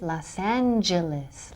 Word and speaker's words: Los Angeles: So remember the pronunciation de mi ciudad. Los Angeles in English is Los Angeles.